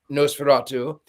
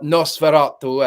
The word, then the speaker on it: Nosferatu: Also, what I find fascinating is that the director in an interview said that before filming Nosferatu, or Nosferatu, as it is, someone corrected my pronunciation, he actually watched Dracula Dead and loving it.